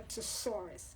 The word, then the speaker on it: thesaurus: I can describe a thesaurus it sounds like a dinosaur but that's how it's pronounced Taurus okay so yes